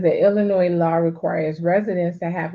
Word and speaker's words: Illinois: reciprocity yeah Illinois the Illinois why am I saying that they know ask the S is silent they they disorged in